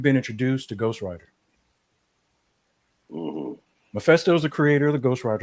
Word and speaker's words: Mephisto: Am I pronouncing that right? Mephisto.